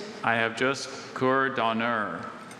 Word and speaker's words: cour d'honneur: Cour d'honneur. Hello. Hello, sir. Cour d'honneur. Cour d'honneur. May I please have any alternate pronunciations? I have just cour d'honneur.